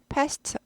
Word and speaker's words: passed: passed away 트 발음이 나고요.